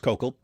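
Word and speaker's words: Koukl: Uh it's kokal. It's pronounced kokal.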